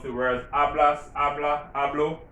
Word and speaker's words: hablo: the words hablas habla hablo remember spanish those ages are silent so just like if it isn't there so yes i speak